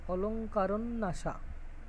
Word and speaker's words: অলঙ্কারন্যাস: প্রথম অঙ্কের নাম হচ্ছে অলঙ্কারনাস্যা, অলঙ্কারন্যাসা এরকম উচ্চারণ হবে, অলঙ্কারন্যাসা, ঠিক আছে।